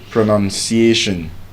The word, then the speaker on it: pronunciation: The verb is pronounce, N-O-U-N. But as a noun is pronoun, N-U-N. There's no O in the spelling of pronunciation, but there's O in the spelling of pronounce.